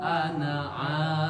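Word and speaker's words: أنا: Nah, bila ada alif di atas huruf alif ada tanda sifar. Contoh di Alkafirun ayat 4, maka cara bacanya dipendekkan. Wala ana abid. Seolah-olah alifnya tidak ada.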